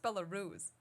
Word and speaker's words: Belarus: and he said uh it's a it's pronounced Belarus oh yeah that makes